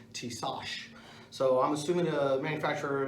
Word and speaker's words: Tisas: Today we're going to be talking about a 1911, which the pronunciation, there's some people that call it a Tisas, but if you listen to the manufacturer's promotion video, it'll actually say Tisas.